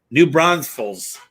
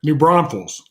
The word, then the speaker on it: New Braunfels: i was based in new brunsville's i don't know if i said that right you're close get close how do you say it new braunfels the brownfields and what's